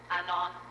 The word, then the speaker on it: anon: nameless or author unknown short form is pronounced anon i suppose it's another latin